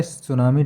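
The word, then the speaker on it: tsunami: ये टी से होता है सुनामी, टी सुनामी, NIMI ये होता है, टी साइलेंट इसमें होता है।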